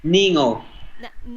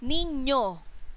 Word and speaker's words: niño: Ningo. Not ningo, niño, ño, Ni.